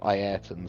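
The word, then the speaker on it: Ayrton: Eton Senna. Eton Senna. Or if you want to be pretentious and pronounce it completely correctly, it's Ian Senna.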